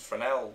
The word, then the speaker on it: Fresnel: framel a Fresnel well it's written Fresnel but people pronounce it for now whatever anyway that's it